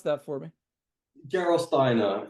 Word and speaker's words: Gerolsteiner: Can you pronounce that for me? Gerolsteiner.